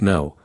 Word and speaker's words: know: K is pronounced no and it means to be aware or to understand something. N is pronounced now and it refers to the present moment.